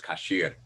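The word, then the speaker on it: כשר: The word in Hebrew is kasher, but the Yiddish pronunciation is kosher.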